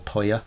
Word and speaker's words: Puya: national collections: palms, Puya, which is spelt P-U-Y-A, or Poya, Yeah.